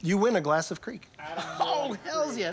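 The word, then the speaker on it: kriek: win a glass of creek oh hell yeah creek beer uh spelled k-r-i-e-k which is how i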